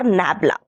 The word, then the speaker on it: nabla: This is uh read as or it is pronounced as or said as dell or nabla.